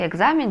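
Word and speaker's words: examen: По-испански «экзамен» читается как «экзамен», «экзамен». Заканчивается на «эне», ударение ставим на предпоследний слог голосом. Угу.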